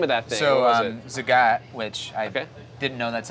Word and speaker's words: Zagat: So Zagat, which I didn't know that's how you pronounced it until I got nominated for this,